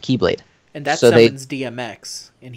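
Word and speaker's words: χ-blade: But then it's also very confusing because there's a weapon in the lore that is called the X-Blade, but it's just pronounced Keyblade.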